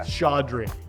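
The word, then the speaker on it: Chaudry: Everyone assumes there's an N in my name. I don't know why. Yeah. Chandri. Yes, Chandri.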